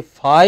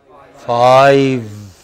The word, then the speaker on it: five: number if you say Phi you lose marks if you say Bible you lose marks it should be five okay and I'm going